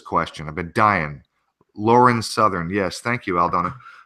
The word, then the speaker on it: Southern: of a dying Lauren southern yes thank you I'll Donna um because I actually thought it was Sutherland at first I thought I pronounced it proper the first time anyway listen here's a